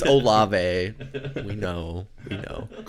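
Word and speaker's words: Olave: We know it's Olive.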